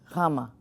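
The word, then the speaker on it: γάμμα: one is just fine the letter itself is written gamma but I want if you're gonna go for pronunciation think more gamma ah it's not a hard guy so try and think you're putting a little bit of a W into your G for the sake of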